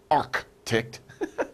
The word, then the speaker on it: arctic: we don't say really we don't really pronounce that c we don't say arctic that's we say arctic